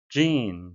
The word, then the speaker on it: gene: Gene, 발음에 의하셔야겠는데요. E는 장음이 되겠고요. 마지막 E는 발음이 되지 않습니다.